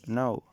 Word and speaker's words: know: a word like back however when the letter k precedes the letter like n at the start of the word it falls silent such as no this is a very